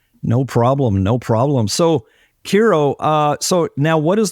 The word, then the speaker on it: Khero Witey: gut um I'm pretty receptive to any any pronunciation these days but it's KIRO um yeah so uh my my uh my